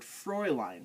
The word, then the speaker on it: Fräulein: But EU in German pronounces oi. And the same thing with umlaut AU pronounces like oi. Like the word Fräulein, or a unmarried woman or girl. Fräulein. The umlaut A with the U pronounces the oi sound, just like EU does.